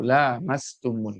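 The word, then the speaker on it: لامستم: Imam Hafiz an Asim, dibacanya lamnya dipanjangkan, aula mastumun nisa, itu artinya berhubungan ya, campur hubungan biologis antara seorang istri dan suami, itu namanya lamastum.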